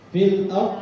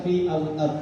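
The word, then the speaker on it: في الأرض: huruf birunya tidak dibaca fil ARD tidak dibaca Fi alard langsung aajah nah rumus mudahnya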